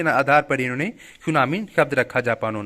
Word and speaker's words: tsunami: सुनामी एक जापानी शब्द है जिसमें टी साइलेंट रहता है।